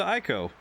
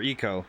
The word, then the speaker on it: Ico: has started I see welcome to Ico for Eco I think it's Eco as I've heard people pronounce it that geez it's bright